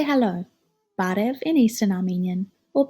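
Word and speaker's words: բարև: We learned to say hello, barev in Eastern Armenian or parev in Western Armenian.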